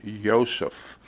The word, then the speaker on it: Yosef: from a jug dealer named Joseph, and he insisted you pronounce it Yosef.